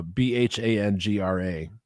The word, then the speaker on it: Bhangra: is called it's spelled d-h-o-l so I'm gonna pronounce it doll and the dance form is called uh b-h-a-n-g-r-a Bhangra and that's uh has to do with